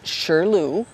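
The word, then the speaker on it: 石榴: And pomegranate in Chinese is pronounced shilu, and it's symbolic of having many children.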